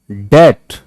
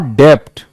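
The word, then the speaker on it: debt: Receipt, डेट नॉट डेप्ट.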